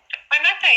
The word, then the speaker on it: Waimate: Now you'll have to excuse my pronunciation if I haven't got it right. Waimate, is that right? Waimate, yeah, very good.